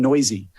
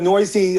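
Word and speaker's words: Neuse: him and that's sheldon noisy um it's spelled weird n-e-u-s-e but it's actually pronounced noisy he qualifies at first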